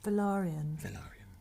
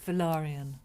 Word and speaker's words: Velaryon: It still bothers me when people sort of go, so you're Corlys really Valyrian. I said, no, it's my name. Velaryon. Yeah. Velaryon.